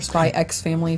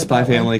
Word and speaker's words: Spy x Family: Had some new ones like Chainsaw Man, blowing the up, like Spy Family or Spy X Family. No, it's Spy Family because the X is silent, just like with Hunter x Hunter.